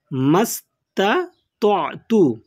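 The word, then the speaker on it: استطعت: প্রথমে তা রয়েছে, তারপরে ত রয়েছে, তারপরে আইন রয়েছে, তাহলে উচ্চারণটি হবে মাস্তাতু মাস্তাতু।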